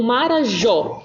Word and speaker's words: Marajó: quando a gente fala qual que é a sílaba mais forte o mar curar ou Jó o John né até porque esse acento agudo pessoal faz com que a sílaba fique mais forte tá então Marajó O